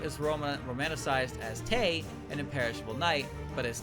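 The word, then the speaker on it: Tewi: In modern Japanese, E is fully homophonous with E, meaning that the W in the Romanji is silent. Officially, the name is romanticized as Tei, an imperishable night, but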